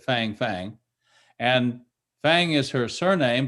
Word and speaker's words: Fang: It's F-A-N-G, so we would probably pronounce it Fang Fang.